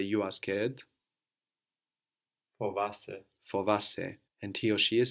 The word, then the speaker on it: φοβάσαι: Fovasse.